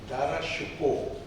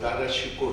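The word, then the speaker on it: दारा शिकोह: आप दारा शिको कहते हैं लेकिन उसका सही उच्चारण है दारा शिको लेकिन भारत में आमतौर से लोग दारा शिको ही कहते हैं।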